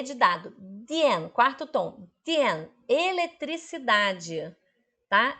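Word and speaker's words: 电: Dien, com D de dado. Dien, quarto tom. Dien, eletricidade, tá? Eletricidade. Dien, com D de dado, D-I-A-N, quarto tom.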